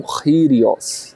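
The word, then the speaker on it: κύριος: Em grego, Kyrios, né, como nós dizemos, mas na verdade o K em grego se pronuncia como um gutural, né, um Kyrios, né?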